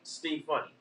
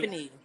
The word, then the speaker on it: Ste Funny: Steve Funny. Is it Steve Funny? Stephanie, like Steph Funny? Stephanie.